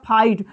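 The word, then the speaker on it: fight: हो जाता है ये आई का उच्चारण आई से करेंगे तो हो जाएगा फाइट एफ आई जी ह टी फाइव जैसे होता है ये वाला आई जी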